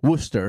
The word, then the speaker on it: Worcester: you moved back and forth from florida to worcester and i'm hopefully i say it right yeah worcester yeah i live yes downtown i lived in